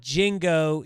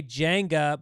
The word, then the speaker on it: Jenga: It's not Jingo.